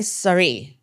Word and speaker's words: sari: its companion book my sari am I pronouncing that right my sorry like the like the clothing my sorry Gita is